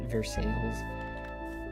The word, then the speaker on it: Versailles: And the locals pronounce it Versailles, which is a funny way to pronounce stuff.